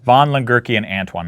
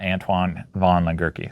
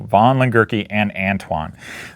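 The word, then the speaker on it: von Lengerke & Antoine: All right, and I mispronounced the name. So it's von Lengerke and Antoine, not Antoine von Lengerke. So von Lengerke and Antoine.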